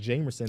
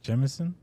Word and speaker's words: Jemison: I always thought it was Jamerson. They Trey pronounce Jameson? Jemison. It is an E. It is an E? It is oh, an see, E. I thought it was an A this whole time. So Jemison makes sense.